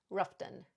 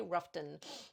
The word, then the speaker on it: Rutherfordton: Please correct me if I'm wrong, but I heard from many people, they just say Rutherfodton instead of pronouncing all the way Rutherford or Rutherfordton as a name of a town.